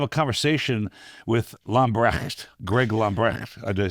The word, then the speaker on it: Lambrecht: About to have a conversation with Lambrecht, Greg Lambrecht. Did I say it right? Yes, that's close enough. I mispronounce it, so you can say it.